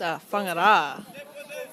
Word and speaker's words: Whangara: It's It's Whangara.